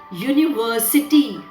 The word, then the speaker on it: university: a university in england again children university to the sound it begins with is university u which is a consonant